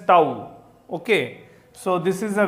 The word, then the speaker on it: tau: Symbolically, torque is represented by this symbol which is pronounced as tau.